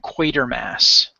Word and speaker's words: Quatermass: You see it says the Quartermass Experiment, how we pronounce Quartermass. They kept a lot of the actors would say Quatermass. It was like a fast way of saying it that was still